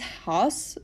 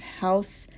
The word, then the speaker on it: Haus: I read it as Haus, but that I don't think is how it's pronounced. I think it's pronounced House. I have tried the Googlings of it. It seems to be pronounced House despite a weird spelling.